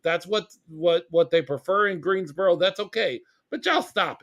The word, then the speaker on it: Greensboro: Inexplicably, the Greensboro, and I'm saying Greensboro because that's how they pronounce it over there. I learned from the broadcast. It's not borough. They keep saying Greensboro.